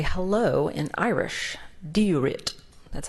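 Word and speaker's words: Dia duit: Diurit.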